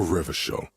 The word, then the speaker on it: Revachol: People made for Revachol, your city. If it doesn't rhyme, you're not pronouncing it right.